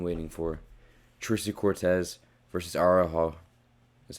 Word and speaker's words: Araujo: Tracy Cortez versus Araujo.